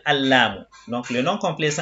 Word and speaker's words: لام: Si je prends la lettre Lam, la prononciation sans l'article c'est Lamun. Et avec l'article Al-Lamu.